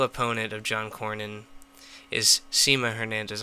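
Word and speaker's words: Sema Hernandez: of John Cornyn is Seema Hernandez I'm sorry Seema Hernandez I've been mispronouncing her name Semmy Hernandez is running against John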